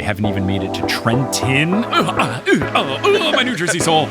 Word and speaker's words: Trenton: even made it to Trenton. My New Jersey soul. You can't pronounce the second T in Trenton.